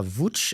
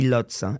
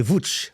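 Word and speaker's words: Łódź: Alors ça s'écrit lots L O D Z mais ça se lit VCH. Très bien. Voilà. Et quand vous dites Lot, les gens savent pas de quoi vous parlez. Donc c'est Vouch.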